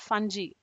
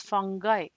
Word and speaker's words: fungi: It's not fungi. It's fungi.